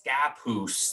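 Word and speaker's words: Scappoose: you know something different it's scapoose they they will correct you immediately every single kid that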